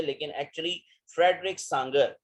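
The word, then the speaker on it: Sanger: यहाँ पर कि फ्रेडरिक सांगर, ये पूरा नाम है उसका, फ्रेडरिक सांगर। इसको सैंगर सैंगर लोग पढ़ते हैं, लेकिन एक्चुअली इसका जो सही प्रोनाउंसिएशन है वो है सांगर, ठीक है।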